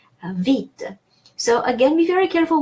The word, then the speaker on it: vite: And so E sounds E everywhere, and final E is silent, vite.